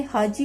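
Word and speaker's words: Hacı: आप लोग को बताया टर्किश में जो सी है उसको हम लोग जो इंग्लिश में जो सी है उसको हम लोग बोलेंगे जे। तो उन्होंने हाजी की आप लोग स्पेलिंग देखें, इसको किस तरह लिखा हुआ है हाजी।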